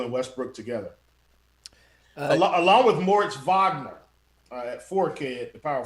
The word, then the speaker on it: Moritz Wagner: Along with Moritz Wagner at 4K at the power forward spot. It's just he impeccable. is starting. That pronunciation is just, that was beautiful. It's like German in high school.